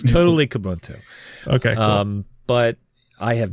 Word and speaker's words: Kubuntu: Is that how you pronounce it, or is it like Zeus or something? No. You never know. It's totally Kubuntu.